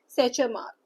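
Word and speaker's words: Tschermak: डेब और तीसरे हैं सैचर मार्क। टी साइलेंट है।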